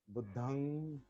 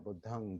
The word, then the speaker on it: बुद्धं: पाली शब्द जो है, पाली उच्चारण, बुद्धंग, धम्मंग, संघंग, इसमें मकारांत नहीं है। पाली में मकारांत नहीं होता। पाली में अनुनासिक क्या कहते हैं उसको, होता है, नहीं, म नहीं, अनुस्वार। अनुस्वार। बुद्धंग, धम्मंग, संघंग, एकं समयं